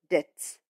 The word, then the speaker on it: debts: The word debts is pronounced as debts, which means money that a person is bound to pay to somebody from whom he has taken.